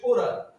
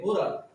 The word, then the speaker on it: oral: এবং যখন মুখের সহিত হচ্ছে তখন কিন্তু প্রোনাউন্সিয়েশনটা হচ্ছে ওরাল, ORAL ওরাল, মুখের সাথে যুক্ত মাউথ।